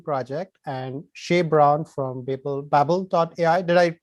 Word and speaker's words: BABL: And today I'm very excited to have Ryan Carrier from the ForHumanity project and Shea Brown from BABL AI. Did I pronounce it right, Shea?